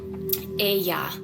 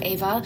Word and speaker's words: Aya: She doesn't say it. She says Aya. Like, for her own name, that's what she calls herself. She doesn't even call herself Ava.